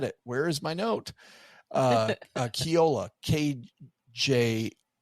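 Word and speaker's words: Kjolle: One was called Astrid and Gaston, and the other one was called Kiolo, KG. I pronounced that wrong. That's funny. It's and I just had it. Where is my note? Kiola, KJOLLA. Kiola.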